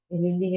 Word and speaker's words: LinkedIn: espacio el tema de linkedin que es nuestra plataforma o linding se pronuncia bien es eh linding es nuestra plataforma profesional en